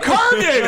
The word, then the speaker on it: Kurgan: Pronounce They were like, Kurgan. it's a Kurgan.